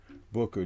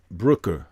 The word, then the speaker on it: Brooker: cobwebs but his opponent mr booker did not brooker excuse me mispronouncing his name uh chris brooker didn't